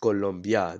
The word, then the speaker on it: Colombia: So it's not Colombia, it's pronounced Colombia. That's why I say it like that, because that's how you're supposed to say it. You say it with an O instead of a U, and you end up